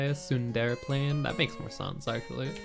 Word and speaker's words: Sunderplane: When I first played it, I was like Sunder playing when it was supposed to be like Sundere playing.